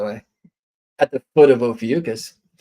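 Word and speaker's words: Ophiuchus: at the foot of ucus ofus I'm told is a better pronunciation where now a new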